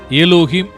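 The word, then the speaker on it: Elohim: கடவுளின் பெயர்கள்: பழைய ஏற்பாட்டின் எபிரேய மொழியில் , கடவுளின் முதன்மையான பெயர் எலோஹிம் ஆகும். நாம் அதை ஆங்கிலத்தில் 'எலோஹிம்' என்று உச்சரிக்கிறோம் .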